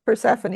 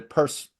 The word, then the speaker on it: Persephone: that yeah, I will say that there's a glimmer of hope towards the end on the Persephone Persephone. You said it right the Persephone first time.